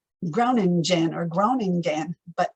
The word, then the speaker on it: Groningen: And it looks like, well, it looks like Groningen or Groningen, but how it's really pronounced because of that G is Groningen, Groningen.